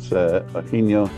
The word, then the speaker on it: San Eugenio: It's called San Eugenio, or a lot of people call it San Eugenio, but Eugenio I've heard a lot of locals say. So it's like Eugenio, but the G is sort of a soft H, like in I don't